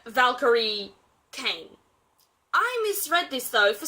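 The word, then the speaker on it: Valkyrie Cain: the first 5 books as Valerie Chain. Not Valkyrie Kane, Valerie Chain. I only discovered my error when talking to my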